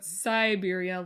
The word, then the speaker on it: Syberia: We're instead talking about Syberia, like the country, but with a Y, like my joke, but not spelled like the word Psy.